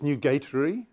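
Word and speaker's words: nugatory: it was i quote new gatory and dangerous and the question is if it's new gatory that is that's the right way to pronounce that word uh meaning inconsequential why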